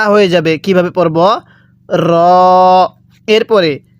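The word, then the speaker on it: ر: র এর উচ্চারণ হবে জিহ্বার আগার পিঠ সেই বরাবর উপরের তালুর সাথে লাগাইয়া র টা উচ্চারণ হবে তাহলে এই হরফটা আমরা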